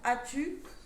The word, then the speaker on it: as-tu: Difficulté pour as-tu, le S muet et le tiret.